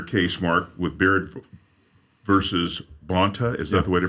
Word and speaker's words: Bonta: And we talk about things like you're doing in your case, Mark, with Baird versus Bonta. Is that the way to pronounce it?